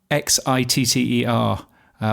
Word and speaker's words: Xitter: I think I may have called X Xitter, which if you pronounce that the correct way, sounds like shitter.